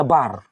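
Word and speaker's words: בר: Kalau hanya bet dengan res, dua huruf yang pertama itu, maka dia cara bacanya bar.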